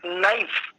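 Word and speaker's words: knife: हो जाति है जैसे इंग्लिश में शब्द है नाइफ तो उसमें केयर जो लेटर है वो साइलेंट है जैसे शब्द एक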